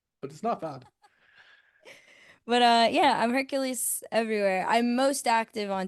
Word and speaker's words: Herculyse: I am Hercules on all platforms. The only craziness is the spelling. It's Herculyse. So not spelled like normal Hercules, but Otherwise, L you're Y gonna get S the E.